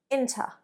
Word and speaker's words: into: sports to be honest pay attention to my pronunciation there in too but when I speak naturally fast inter not really into that at the moment I'm not really into that number three using the expression